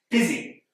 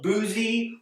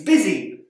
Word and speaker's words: busy: exactly how they're pronounced busy here we can see that the U does not make the sound that we might expect instead it makes an e sound it's not boozy or Buzzy it's busy word here the O